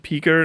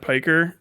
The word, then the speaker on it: piker: I heard a Turkish person said it's pronounced picker, not piker.